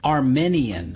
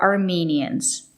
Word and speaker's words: Armenian: with i a n Armenian Armenian Armenian it's not correct to say Armenian you have to use the long e Armenian the country is Armenia and people from Armenia are Armenians and they speak Armenian